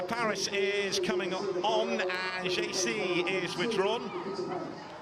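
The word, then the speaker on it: Geyse: Nikita Paris is coming on, and JC is withdrawn. Apparently, if you're friends with her, you pronounce her name as Jace, but if you're not, JC.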